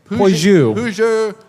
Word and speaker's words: Peugeot: Someone shouted out a correct pronunciation? Peugeot. My girlfriend is English, and she tried to teach me how to say, and after 5 minutes, I was like, it's just not going to happen. Puget.